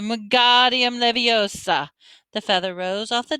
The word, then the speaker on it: Wingardium Leviosa: Wingardium Leviosa, she said, waving his long arms like a windmill. You're saying it wrong, Harry heard Hermione snap. It's Wingardium Leviosa. Make the ga nice and long.